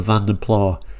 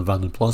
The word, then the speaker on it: Vanden Plas: I'm talking about the Van der Pla saying that's not how you say Van der Pla. Well, yeah, it's not strictly the correct pronunciation, but this particular channel